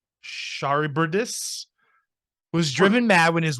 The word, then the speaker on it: Charybdis: No, it's Charbydis. Charybdis was driven mad when his wife and partner in crime, Scylla, was killed in an attempt to Charybdis.